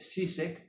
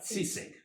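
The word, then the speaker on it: Žižek: Luego el otro día pronuncié SIS, pero luego he visto que es Jek Z, pero se escribe con Z. Sisec.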